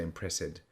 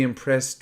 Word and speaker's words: impressed: mean you know that when we pronounce adjectives and verbs in the simple past with IDI often that sound is T so to be impressed not impressive you don't say impress it so to be impressed